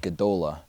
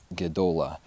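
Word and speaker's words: גְּדוֹלָה: hebrew word it's the hebrew word godola and national pronouncing right it's the hebrew word gedola so if jonah wasn't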